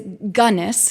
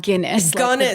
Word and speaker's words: Gunness: She was uh Yes, it is Gunnness, not Guinness.